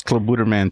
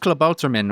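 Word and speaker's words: Klabautermann: This is Club Buderman 2.0. Yeah. I hate you guys for saying it like that. You say that, and I know it's pronounced Klabouterman or something to that effect.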